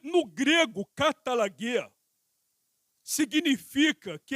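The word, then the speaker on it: καταλλαγή: Eu coloquei aqui, ó, a palavra reconciliação no grego é katalagê. Se pronuncia exatamente desta forma. Eu tenho um pouco de conhecimento da língua grega. E no grego, katalagê significa que é um dos aspectos da obra de Cristo como redenção.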